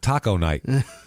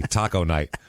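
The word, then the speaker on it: taconite: can become a a Taca Knight minor Taco Taco Knight it's spelled t a c o n i t e Taco Knight he's mining Taco KN that sounds delicious I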